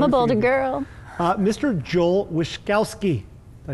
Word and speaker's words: Wishkovsky: Joel Wishkovsky.